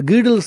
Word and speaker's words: Gödel: There's another discussion in that book, Emperor's New Mind, on the Gödel's theorem. Godel is a German, it's an Austrian word. It is pronounced as Gödel or Gödel.